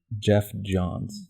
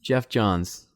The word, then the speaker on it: Geoff Johns: John's GF how do you say his name Geoff Johns Geoff Johns yeah so they put him in charge and